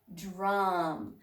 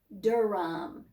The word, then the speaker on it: drum: Drum. Remember the D-R, we adjust our pronunciation. That's the way we say the word to say dr, dr, dr. We don't say Durham. It is drum.